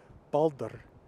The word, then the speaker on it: Baldr: Anyway, Baldr shows you that syllabic R. So the R is actually the whole syllable. That isn't too different from English, where you have words like water, where the R is actually the second syllable for most American English speakers like myself.